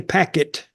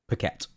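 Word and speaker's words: Paquette: my fan Renee Renee packet pette I know it's pette but I always said her name wrong PIN me w p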